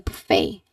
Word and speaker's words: buffet: Again, we ate at a buffet. It's your turn. Right. That's correct. Very good. We ate at a buffet. Remember that is buffet. There is a silent T here.